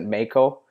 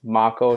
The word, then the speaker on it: Mako: would always pronounce it Mako with a Canadian accent, but it's Mako. So I kind of have to remember it like I'm saying Marco Polo, but without the R.